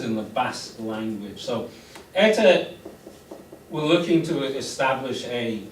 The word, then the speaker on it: ETA: as a word but this in English is always pronounced ETA so it's pronounced like a word not ETA this is what it